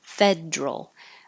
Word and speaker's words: federal: the word Federal because it does look like it should be three syllables Federal but this is one of the words where the middle syllable gets dropped and we make it just too Federal others with that same